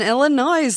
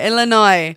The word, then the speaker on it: Illinois: So in Illinois last week, a vote on a pending medical